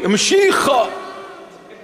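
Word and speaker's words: משיח: and teach them to pronounce it correctly. Mashiach.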